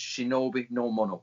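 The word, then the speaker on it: 忍の者: person absolutely existed and it was pronounced shinobi no mono same ideograms same japanese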